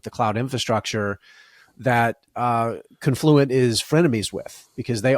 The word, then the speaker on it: Confluent: It's confluent ticker symbol CFL LT and we we did the pronunciation to it's not confluent as I would wanting to call it. It's confluent and you nailed it.